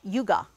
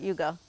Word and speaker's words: yuga: Another very cute two-syllable Sanskrit word called yuga. Do we know that word? Not yoga, but yuga. Who knows that word? Who am I speaking to? Okay, a few people know that word. Okay, so yuga is a measurement of time.